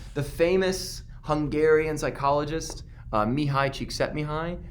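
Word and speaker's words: Csikszentmihalyi: famous Hungarian psychologist Mihai Cheeks set me high that's how you say that spell his name it's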